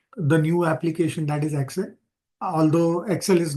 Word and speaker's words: Excel: into the deeper Concepts let's understand what is Excel yeah now Excel is pronounced at X cell so e KS and